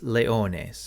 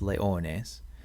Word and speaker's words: leones: And for third declension nouns, the nominative plural ending is an es, a long es, ace, which gives us leones, and we have to add that N to leo.